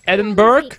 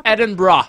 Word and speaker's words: Edinburgh: I'm actually from Edinburgh. Zo spreek je dit uit. Je spreekt het niet als Edinburgh. Het is Edinburgh.